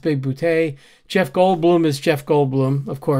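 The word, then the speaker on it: Bigboote: Christopher Lloyd is his brilliant self as usual, as John Big Boutte, pronounced Big Boutte.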